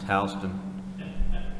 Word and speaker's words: Houston: just one quick in in Georgia Houston is pronounced Halston Miland is brother Milan is pronounced malan and